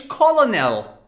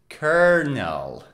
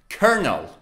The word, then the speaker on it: colonel: you say it it's colonel colonel right actually it is kernel colonel the l o in the middle is silent instead you say er er colonel colonel but